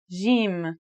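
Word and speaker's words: جيم: In Standard Arabic and Syrian Arabic, it should sound like the J in the word jam, while in Egyptian Arabic, it sounds like the G in the word game.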